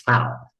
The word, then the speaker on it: Tal: but it's Tal, and I've called him Tal, but it's Tal. And who did you confirm that with? Because I call him Tal too. Yeah, because he was talking about how somebody pronounces his name after they knew him for 50 years, and they still say tall like height, tall, and I go,